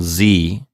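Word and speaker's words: sie: lesson 74 z happen so lisa i'm seeing a couple of things here that could be confusing to our listeners first of all the pronoun z that's spelled s-i-e we saw it in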